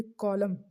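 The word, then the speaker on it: column: के हमारा साइलेंट हो जाता है। देन हमारे पास कॉलम तो ये है कॉलम पढ़ने होता है।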